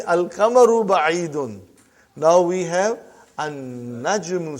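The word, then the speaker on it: النَّجْمُ: Now we have an-najmu. So how will you pronounce, brother? An-najmu ba'idun. You did not pronounce lam.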